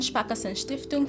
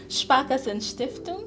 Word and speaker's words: Sparkassenstiftung: representative of the German Sparkassenstiftung for international cooperation here in Namibia. Okay, before we proceed, could you please teach me how to say the second word after German? Sparkassenstiftung. Sparkassenstiftung. Yes, that is great.